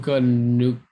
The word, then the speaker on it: Puka Nacua: How do you pronounce it? Puka Nacua.